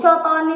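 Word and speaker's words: cottonii: Katoni yang Cotoni sebenarnya tapi kan tulisannya Katoni. Bacanya Itu yang hijau.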